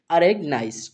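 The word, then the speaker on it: organise: से जा बनाते हैं, ई लास्ट वाला वो रहता है साइलेंट, इसका उच्चारण नहीं करते हैं, ठीक है। तो इस वर्ड को हम क्या पढ़ते हैं, अरेग, अरेग नाइस, क्या पढ़ेंगे, अरेगनाइज, ठीक है।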